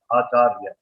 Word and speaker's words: Acharya: Acharya, Niranya, Acharya. So there are three syllables.